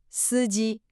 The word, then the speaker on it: 司机: The driver, 司机, 2 first tones.